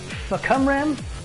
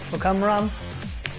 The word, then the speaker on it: Fahkumram: So, what we have here is Fahkumram, I think is how you pronounce it. Fahkumram.